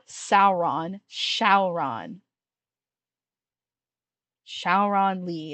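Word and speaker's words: Syaoran: to sign to chat it's spelled like s y a o r a n shaon um but it's more like it's it's more like the English we shaon is translated from like Chinese to Japanese to English if you if you translated directly from Chinese it would probably pronounce more like Zing anyway the whole show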